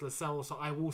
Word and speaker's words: Lascelles: Lascelles, yes, Lascelles, not Lascelles, you're right, Lascelles, that is how his name's actually pronounced, Lascelles, so I will say Lascelles.